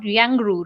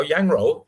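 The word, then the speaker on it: 羊肉: I can't pronounce it in Chinese, but maybe my pronunciation will not be good. It's called Yangru, right? Yangru. Yang Wei. Oh, Yang Ro.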